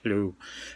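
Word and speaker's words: Lleu: one story that is about a character named Lugh. Well, actually, that's not the proper Welsh pronunciation. It might be something like Lugh.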